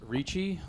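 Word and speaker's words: Ricci: My name is Reichi. Last name is spelled R I CCI. like Christina Christina Richi, right? Same pronunciation, not related.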